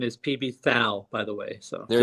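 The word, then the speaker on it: PBTHAL: vinyl archivist welcome it's actually very famous as P Bethal the correct pronunciation is PB foul by the way so there you go Nazi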